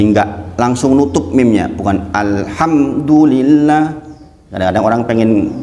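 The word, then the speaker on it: الحمد لله: enggak boleh ng misalnya Alhamdulillah itu keliru harusnya adalah Alhamdulillah bukan Alhamdulillah bukan Alhamdulillah yang benar adalah Alhamdulillah cara dipahami nah ini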